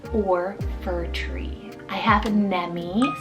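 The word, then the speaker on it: Nemy: I have Nemi, spelled N-E-M-Y, Nemi. Now this could be a cool like Remy alternative if you really love that ending sound, and it means sweet, and it's a West African rooted name.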